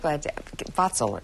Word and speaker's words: Vatsal: And that's what Vatsal is the correct way to say it.